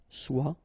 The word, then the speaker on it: soit: Okay, then of course être and avoir, so être will become soit, remember final S is not pronounced, soit, then soyons, soyez, all